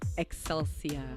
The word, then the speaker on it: Excelsia: And also, just to confirm, my first name is Excelsia. Excelsia like like accelerate your breath.